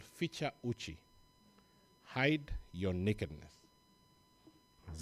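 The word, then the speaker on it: fichua: are not necessarily Kenyans feature is spelled in the way that it sounds f i c-h-a Uchi is u-c-h-i #feature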